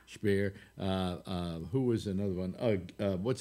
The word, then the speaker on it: Speer: Speer actually is how it's pronounced. Speer.